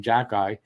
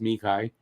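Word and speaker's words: Xhekaj: that kid arbor um as habitation calls him jackeye it's i think it's pronounced mikai um he plays for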